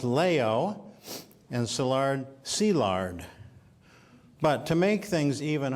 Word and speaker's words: Szilárd: Franz Liszt and I is e leo is pronounced Leo and szilárd see lard but to make things even harder like the Chinese the Hungarians put the family name first so in Budapest he is sea lard layout however since German was his family's first